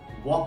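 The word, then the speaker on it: walk: डब्लू ए एल के इसको हम वलक नहीं बोल सकते वलक वॉक बोलते हैं एल साइलेंट जा रहा है उसका प्रोनंसिएशन भी वॉक है सेकंड वर्ड देखिए के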